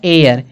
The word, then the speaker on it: heir: लिखा गया ना एयर, इस एयर में एच का उच्चारण नहीं हो रहा, इसलिए आर्टिकल क्या लगेगा, एन लगेगा। फिर आवर दिया है, आवर